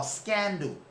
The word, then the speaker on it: Scanadu: So, but there's a company that's called Scanadu. Or Scandu, however you want to pronounce it, Scanadu.